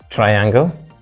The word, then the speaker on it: triangle: triangle triangle triangle is stressed on the first syllable and finally we has